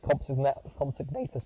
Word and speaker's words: Compsognathus: That's how you say it's Compsognathus, by the way.